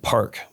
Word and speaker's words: Parq: So now it's at Park nightclub. That's spelled PARQ.